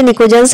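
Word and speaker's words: pnictogens: निकोजेंस यहाँ देख सकते हैं, निकोजेंस की जो स्पेलिंग है वो पी से स्टार्ट है, पी साइलेंट है, इसे बोलते निकोजेंस है, लिखा इसको पी से जाता है।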